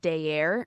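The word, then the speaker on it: Daer: is called Legends of day air it's spelled d-a-e-r and you can find just like had an aneurysm while you're saying dear Legends of day air yeah yeah champions of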